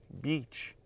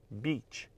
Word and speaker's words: beach: então mais uma vez praia b b b beach beach beach let's go to the beach e o